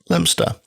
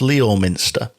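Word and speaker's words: Leominster: The date was the 8th of November 1966 and the place Lemster, a place historically horrifically mispronounced by me on this podcast as Leo Minster.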